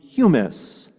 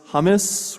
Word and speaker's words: humus: the human from the humus though I tend to mispronounce humus as hummus which kind of misses